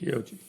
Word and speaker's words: Fiocchi: And but I found a box of Fiocchi. Ain't that how you pronounce it? Fiocchi.